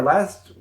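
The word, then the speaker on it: 了: or it can even be attached to our last you know our last word or for birds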